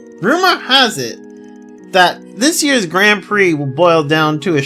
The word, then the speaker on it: Grand Prix: But like also how I I find it hilarious how it's called how like that's pronounced Grand Prix but it the spelling makes it seem like it's grand pricks.